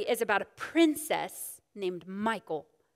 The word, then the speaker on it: Michal: about a princess named michael some people say her name michal mikal i don't know i'm not hebrew i always heard her name as michael so i'm gonna just say michael okay uh let's see